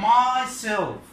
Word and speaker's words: myself: طيب اول مثال عندنا myself, بنحط الستريس فين, where to put the stress, we put the stress on the last syllable على المقطع الاخير او suffix اللي هو self.